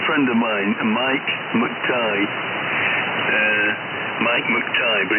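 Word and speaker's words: McTigue: Yes, M-C, for Mike, and then T-I-G-U-E, Tango Italy Golf Uniform Echo, but people seem to pronounce it McTighe, and he gave up on it.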